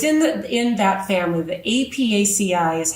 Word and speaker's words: Apiaceae: The Apiaceae is how you pronounce the botanical name for this family of plants.